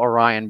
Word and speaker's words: Orian: And um so like they just changed it to Orian, but you can still call Orion because there's the like the way it's spelled isn't really a real word. So it's just a name.